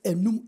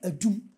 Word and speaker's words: Enum: at a place called Enum. Asante preserved the name, but because we, by way of pronunciation, have corrupted it, it has become Edum, which is about the most famous part of Kumasi.